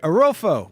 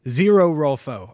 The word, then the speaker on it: Zero Rolfo: Arolfo, what's up? Thanks for the follow. Oh, excuse me. That is Zero Rolfo. I said it wrong initially.